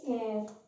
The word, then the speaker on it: heir: ये एच जो है ना, ये साइलेंट है, तो हम प्रोनाउंस करेंगे एयर, इसके साथ आर्टिकल एन आता है।